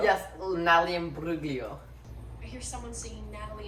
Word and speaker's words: Imbruglia: Natalie Imbruglia. Yes, Natalie Imbruglia.